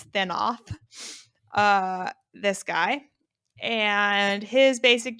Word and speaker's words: Thanoth: minder, this guy named I don't know how to say the name without it sounding like Thanos, but I think his name is Thanoth.